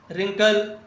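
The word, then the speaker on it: wrinkle: 85 which letter is silent in रिंकल, rake, wrist. इस तीनों में क्या साइलेंट है? तीनों में डब्लू साइलेंट है। जब भी आर से पहले डब्लू लिखते हैं तो डब्लू साइलेंट होता है।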